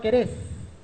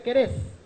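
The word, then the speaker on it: כורש: Porque en hebreo él dijo, levantado el espíritu de mi Mashiach Querés. Querés es como se pronuncia en hebreo el nombre arameo griego de Ciro.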